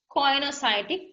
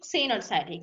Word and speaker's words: coenocytic: Then we call them as coenocytic, cenocytic, and multinucleated. Cenocytic means multinucleated. සමහරු cenocytic කියලා pronounce කරනවා එක, සමහරු coenocytic කියනවා. කොහොම කිව්වත් එකම වචනේ.